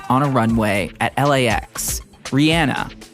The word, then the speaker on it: Rihanna: we're on a plane on a Runway at LAX Rihanna and yeah that is how you say her name hi Vogue it's Rihanna